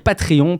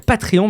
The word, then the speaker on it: Patreon: Alors, il faut que je m'entraîne à à dire patrion parce que bon, en France, je prononce beaucoup de choses à la française. Je vais dire patrion maintenant.